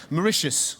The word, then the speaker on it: Mauritius: surrounded by Indian Ocean Mauritius also the only country in the world to rhyme with delicious and their new champion